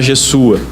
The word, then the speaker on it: Jesua: Como é um S só, não está com Z no transliterado, o correto seria pronunciar Jesua. Jesus também.